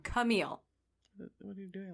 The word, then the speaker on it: Camille: or clam cile okay I said it wrong Camille what are you doing like you like chamia